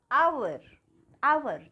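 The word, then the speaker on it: hour: हा ओ यू आर अवर ठीक है अवर मिस होता है घंटे तो यहां पर हमने हाथों नहीं बोला है इसको क्या बोला अवर इसी तरह से ऑनेस्ट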